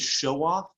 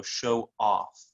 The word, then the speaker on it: show off: So noun, so the first one is show off, and then if it's a verb, then you put more emphasis on the second part, so show off.